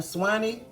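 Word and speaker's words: swai: making some garlic butter sway. Some people call it sway, some people call it swanny.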